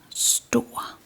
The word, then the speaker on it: stor: If we left out the R, it would be store. But when placing the R at the end of the word, it comes it becomes store. So we kind of prolong the vowel and change the sound of the vowel in front of it a little bit.